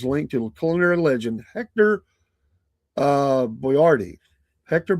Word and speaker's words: Boiardi: to culinary legend Hector Boyardee. Hector Boyardee. It's spelled different than Boyardee on the can, but Boiardi.